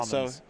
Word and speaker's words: Salmons: It was Salmons, right? Yeah, yeah Salmons. So like multiple, like the plural of salmon.